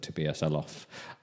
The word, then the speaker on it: Tobias Elof: You should definitely, I'll write that in the chat just in case, because that name may look different to how it's said, but Tobias Elof.